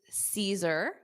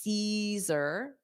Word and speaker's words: Caesar: All right, so we have number one is Caesar. Caesar. So notice that A at the beginning isn't pronounced. So it's Caesar, Caesar, Caesar salad.